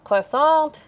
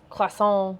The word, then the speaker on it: croissant: cool idea there's our croissant croissant sorry you don't pronounce the t right song we we all